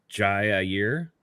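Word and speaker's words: Ji'Ayir: 100 but I think the way you pronounce his name is Jay a year Jaya um all right there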